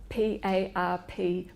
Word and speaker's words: PARP: is targeted to some women's cancer is the PARP inhibitor drug, and there have been a range of trials involving that class of drugs over the last 10 years. How do you spell it? P-A-R-P, PARP.